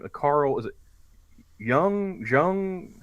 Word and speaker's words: Jung: mispronounce the dude's name the Carl is it young Jung how do you how do you say okay I've only ever read it so fair enough Carl Gustav Jung oh well yeah he starts asking it about